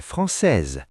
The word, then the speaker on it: française: Elle est française, S réveillé.